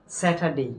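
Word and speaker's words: Saturday: এখানে হয় নাই দেখেন এখানে কি আর এর উচ্চারণ হয় নাই তাহলে এটা কি হলো এখান থেকে আমরা শিখলাম কি স্যাটারডে কি স্যাটারডে স্যাটারডে আরেকটা জিনিস হলো কি কোন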